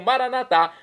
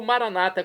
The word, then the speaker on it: maranatá: E agora eu clamo maranatá, como dizemos nós católicos, ou maranata, como dizem nossos irmãos das comunidades evangélicas ou protestantes. Não importa pronúncia, o significado é o mesmo.